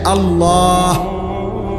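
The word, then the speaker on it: الله: উচ্চারণ হইতে হবে শেষে আল্লাহ শেষে একটা গোল হা আছে ছোট হা আল্লাহ মানে আল্লাহু তো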